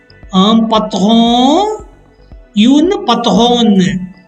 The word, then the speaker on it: patronne: Un patron, une patronne. Un patron, une patronne. Beware of the pronunciation. Un patron, nasal. Une patronne. Un patron, une patronne.